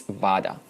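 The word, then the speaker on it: vāda: samvada the highest level next one is vada long a vada vada is when two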